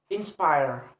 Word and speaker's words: inspire: Next, have a word inspire, inspire. Inspire have two syllable, and the second syllable is placed on the stress placed on the second syllable.